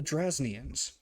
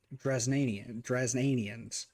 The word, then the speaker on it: Drasnians: The Belgariad, called the Drasnians. I said the first time, because you read things differently. I said the Drasnanians, because I pronounced the A and the I different. So I put emphasis on that.